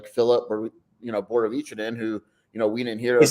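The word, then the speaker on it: Borovićanin: And there's going to be some guys like Philip or Borovicinen who we didn't hear. Is that how it's pronounced?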